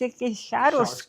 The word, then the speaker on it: Schar: It's Schar Okay, Schar. I wanted to pronounce it Schar.